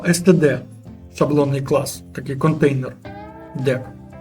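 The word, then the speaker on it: deque: воно пишеться як STD дек це теж читається як Q Ну де Q воно ще Ну насправді воно там де Ось так читає пишеться дек сама саме слово англійською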